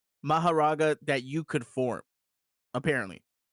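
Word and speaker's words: Mahoraga: Maharaga. Maharaga that you could form apparently like because Fushigoro isn't even that strong.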